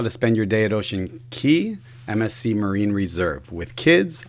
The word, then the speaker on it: Ocean Cay: And quick note, it's actually pronounced Ocean Cay, not Ocean Cay.